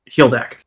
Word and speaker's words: Hildak: Hildak. Hildak. Okay. It looks like hold that.